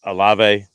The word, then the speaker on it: Olave: Your buddy or your favorite school from Ohio State rookie wide receiver Chris Olave, I believe that's how you say his name. Yep, Olave.